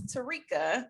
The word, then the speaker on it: Terrika: Okay, well, it's Terrika.